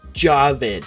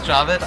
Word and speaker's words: Jawed: just it looks like it would be called jawed what the w jabbed is the correct pronunciation of youtube co-founder javid karim's first name yeah still don't believe me